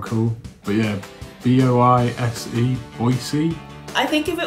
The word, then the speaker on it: Boise: B-O-I-S-E, Boise? I think if it was Boise, it would have like another E or something. So I'm gonna go with Boise, Idaho. That's Boise, Idaho. Boise, Idaho.